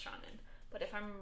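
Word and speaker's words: Seanan: I believe this is an Irish name, and I believe it's pronounced Shannon.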